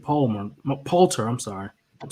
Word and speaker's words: Poulter: Poulter.